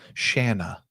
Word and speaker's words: Shanna: Shanna. It rhymes like banana. It's like Anna with a sh.